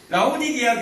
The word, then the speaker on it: 라오디게아: 꼭 라오디아 이 발음이 오늘 영 안 되네요. 라오디게아 교회.